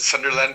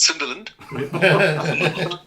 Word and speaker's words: Sunderland: We in Germany call it Sunderland, but we last year when we were touring um in the UK, we learned um that it's pronounced Sunderland.